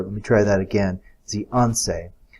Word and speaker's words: Zhuangzi: Not pronouncing that right, I'm sure. Let me try that again. Zhianse.